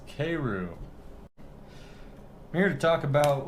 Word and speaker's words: Keiryu: my cued k all right hold on it's pronounced k roo not ki ryu even though it's k e i says k and it's k-roo i'm here to talk about what happened to